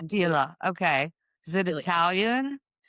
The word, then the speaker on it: Opiela: Opilia. Opella. It's pronounced that way a lot of times. Opila.